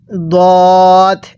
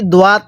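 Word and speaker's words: ضاد: এরপরে দদ, এই শব্দটাকে আমরা অনেকেই দোয়াত পড়ি, অর্থাৎ সোয়াত দোয়াত এরকমভাবে পড়লে পড়াটা সহি শুদ্ধ হবে না।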